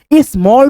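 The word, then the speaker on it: small: स्मॉल पढ़ेंगे। कितना simple है। जब किसी वर्ड में ए के बाद डबल एल आ जाए तो आपको ए का उच्चारण ओ के रूप में करना है।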